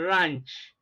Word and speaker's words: ranch: is a lunch Palm you have the long R sound in ranch as you have in Palm okay so let's now